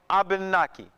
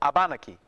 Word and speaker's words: Abenaki: area, the native people, call themselves Abenaki or Abenaki. Okay? And, excuse me? A is spelled various ways, but one way you can spell it is A-B-A-N-A-K-I, Abenaki or Wabanaki.